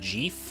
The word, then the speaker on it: GIF: it's decorative choosy programmers to choose GIF it's pronounced GIF because I say so but that's the peanut